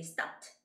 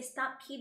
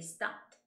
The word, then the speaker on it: stopped: but you got to be careful with the pronunciation because you have to say stopped by stopped by nuts not stopped key goodbye because people might say stop key to buy and it sounds like stupid bye